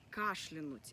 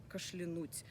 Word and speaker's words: кашлянуть: Правильное ударение в этом слове именно кашлянуть. Я кашляну, он кашлянет, он кашлянул и так далее. То есть ударение всегда падает на первый слог, как, собственно, и в слове кашель.